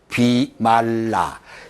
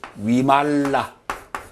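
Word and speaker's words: Vimalā: 비말라. 영어식으로 읽으면 비말라인데 빨리어식으로 읽으면 위말라. 이 부위를 위라고 발음합니다. 위.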